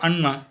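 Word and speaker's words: Anna: नाव सुद्धा असत ना ए डबल एन एना उच्चार ना पण आपल्याकडे मराठीत त्याचा उच्चार होतो अण्णा ए डबल ए अण्णा आपण आपल्या वडिलाला किंवा मोठ्या भावाला आपल्या भाषेत अण्णा म्हणतो स्पेलिंग तेच ए डबल ए पण तिकडे त्या स्पेलिंगचा उच्चार एना ए डबल ए ना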